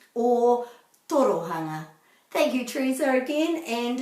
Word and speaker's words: Ōtorohanga: because it's so new to do this correctly or torohanga thank you teresa again and enjoy trying to pronounce kiara